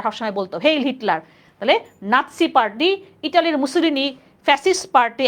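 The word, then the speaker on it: নাৎসি: না যেমন হিটলারের ছিল নাসি নাসি নাজি যেটাকে আমরা লিখছি না এটা হচ্ছে নাসি বলি আমরা উচ্চারণটা নাসি পার্টি ইতালির মুসলিম এই যে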